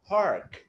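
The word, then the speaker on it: park: പി എ ആർ കെ, നമ്മള് പാർക്ക് എന്നല്ല പറയണ്ടേ, പാർക്ക്, പാർക്ക്, പാർക്ക്. അപ്പൊ ആറിന്റെ ആ ഉച്ചാരണം, that is something you have to learn. മലയാളികൾക്ക് മുഴുവൻ കുഴപ്പം ഉണ്ടാക്കുന്നതാണ്. വി ഫ്ലെക്സ് അവർ ടങ് അപ്പോൾ, ഡോണ്ട് ടച്ച് ദ വീലം, മേളത്തെ റൂഫിൽ തൊടാതെ പറയുക. ആർ, ആർ, ആർ.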